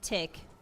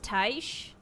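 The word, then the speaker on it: Tiche: The first time I played the game, I pronounced it Tick. But I think it's pronounced Taish.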